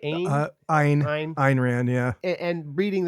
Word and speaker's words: Ayn: Ayn?